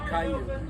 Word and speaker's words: Cayuga: I always called it Cayuga Lake. How does it supposed to be pronounced? Well, we always said Cayuga, but I think the Indian pronunciation is Cayuga. Cayuga. Yeah. Okay. I sometimes called it Kyoga because I hear these people on the vlogs. They just drop that first syllable and just Kyoga.